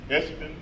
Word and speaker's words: Esping: Espen. Did I spell it wrong? Okay, I got it right. You don't pronounce the G. The G silent.